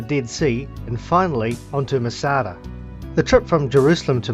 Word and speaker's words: Masada: Masada, or Metzada, pronounced Masada, means fortress and was